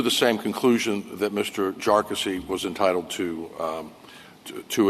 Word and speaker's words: Jarkesy: Jarky was entitled to um to a jury for these claims. And by the way, it's pronounced jarassy uh not not a number of other ways